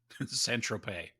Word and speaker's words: Saint-Tropez: Saint-Tropez.